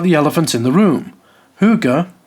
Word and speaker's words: hygge: Hygge, pronounced "hoo-ga", is maybe, probably, one of the most overhyped trends to ever exist.